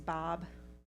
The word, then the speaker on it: bab: need maybe the bathroom Hungarian word for bean is Bob pronounce Bob and bean soup sounds like Bob Lees just totally the guy